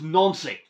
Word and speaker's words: Nancy: And yes, some people say it's Nancy, but the correct pronunciation for Celtic of all teams, so this hasn't exactly helped their case, is Nancy. The French way of saying it, and because in France they pronounce their A's as O's, like, I don't know. It's just a cultural pronunciation thing.